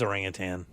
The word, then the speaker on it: orangutan: Because there is no G at the end. It is orangutan.